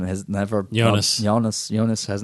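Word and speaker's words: Joonas: Yeah, Eunice, or how do you say his name, has never... Jonas.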